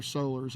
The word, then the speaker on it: Soler: His relatives that don't make over $10 million a year are Solers, I guess. You know how there's Morals and Morels and all that. You know, Soler is how you say it.